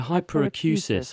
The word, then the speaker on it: hyperacusis: correctly H hyperacusis yeah hyperacusis hyperacusis hyper as an acoustic sound and this this is